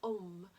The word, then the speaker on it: Om: primordial sound from creation the um which we use the syllables of a u and m but this um is